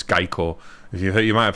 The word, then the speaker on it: Geico: it's actually Geico sorry I forgot it's not gecko it's Geico if you you might